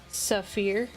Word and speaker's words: sapphire: No, like sapphire is pronounced safir. Oh, okay. Okay. Sorry. I was sounding out the words and I was like I was like, "Oh, so you mean this?" Cuz fir is fur.